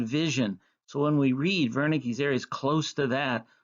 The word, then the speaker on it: Wernicke: called wernicke's area wernicke's named after a german doctor that's why it's pronounced wernicke this is an area